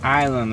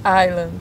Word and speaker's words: Island: Island, amor, não pronunciou S. Muito obrigada, senhor Sheldon Laird. Vocês ouviram, né, gente? É Island, não pronunciou S.